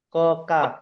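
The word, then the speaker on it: ق: Hanya satu huruf, namanya qaf. Atau kita bacanya ko. Nah, di sini lidah ujung lidah pangkal lidah ini digerakkan sehingga bacaannya menjadi ko, bukan k.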